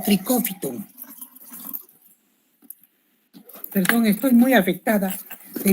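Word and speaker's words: Trichophyton: Los géneros más importantes de los dermatófitos son el tricofitum, que se escribe así como están viendo, trichofitón y se lee como tricófiton.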